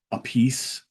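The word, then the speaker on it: Appice: right Carmine made it changed the pronunciation to a piece because everybody you know kept screwing up pronunciation of his last name which I believe it's a a pich or a peach something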